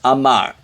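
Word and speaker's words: אמר: dashes uh uh and this is an aleph it's silent mem is a m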